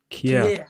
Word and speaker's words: Kjær: How do you pronounce that guy's name that scored for AC Milan? Simon Kjær. Kjær.